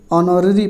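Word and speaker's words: honorary: तो यहाँ पे ऑप्शन नंबर जो सही हो जाएगा वो सी बिल्कुल एन भरा जाएगा, क्योंकि इसको ऑनररी पढ़ेंगे, इसलिए जो है आपका वावेल से इसका उच्चारण हो रहा है तो एन भरा जाएगा।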